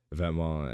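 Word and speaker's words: Vetements: glasses I have to say it right uh vetma and Balenciaga like these kind of brands that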